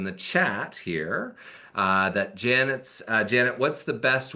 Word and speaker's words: Yanet: at yanet Janet right pronounced Janet but with a Y right y a NE